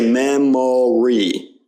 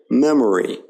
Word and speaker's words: memory: Now it's typical in unstressed syllables in words like memory, okay? We don't say memory, we say memory. You hear how that's a very subtle sound, and the O there isn't stressed.